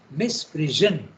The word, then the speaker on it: misprision: This effort of the ego is clearly a misprision. Okay, the word is misprision. S-I-O-N has to be pronounced as Z-H.